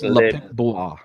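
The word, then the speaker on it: Le Pic-Bois: It's Le Pic Bois. Le Pic what? Le Pic Bois. Blah. Bois. Le Piquois. Le Pic Bois. That's how you say it.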